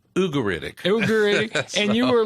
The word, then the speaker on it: Ugaritic: Well, I you know, being a Texan, I I pronounce it ugeritic. Yeah. But my professor, Eugene Merrill, said it's ugeritic.